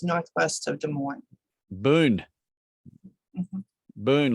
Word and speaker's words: Boone: darling from i'm in boone iowa which is northwest of des moines boone boone like a gold burn black white like a boon like a an abundance of things no boon b-o-o-n-e oh yeah yeah it's